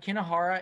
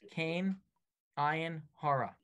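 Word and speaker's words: kein ayin hara: the answer to that kina Hara is a messed up pronunciation of three words came iein hora con ina Hara right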